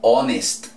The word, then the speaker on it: honest: a decir con esto honest se escribe con h pero la h no suena si voy a decir